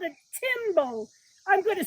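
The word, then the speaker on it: tymbal: The males have a part on their body called a timbo. I'm going to spell that one for you.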